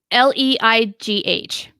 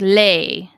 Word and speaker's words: Leigh: yeah apparently le e le IG H okay so more like lay like Jennifer Jason Leigh yeah only pronounce Li